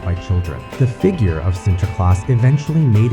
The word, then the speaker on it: Sinterklaas: The figure of centerclass eventually made its way to America with Dutch immigrants. In the new world, the name softened and morphed from the Dutch pronunciation into the universally recognized Santa Claus.